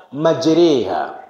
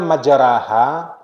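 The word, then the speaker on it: مجراها: Bacanya majriha. Tulisannya majaraha, tapi kalau baca majriha. Rasanya ini satu-satunya imalah dalam Quran ya.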